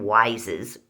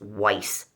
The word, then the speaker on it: Weis: they us them and wises Weiss Supermarket people around here say wise but it's pronounced Weiss supermarkets um they get